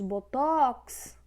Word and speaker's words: botox: Temos hangar, só que hangar é oxítona, porque vocês perceberam que a força está na última sílaba. Temos botox, também está na última sílaba, é oxítona.